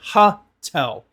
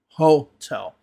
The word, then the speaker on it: hotel: They'll say hotel, where it's hotel. You need to be careful with that o sound.